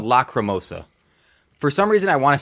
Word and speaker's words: Lacrimosa: confident it's called Lacrimosa. Lock, not lack. Lacrimosa. Lacrimosa. Well, it's an A, not an Lack.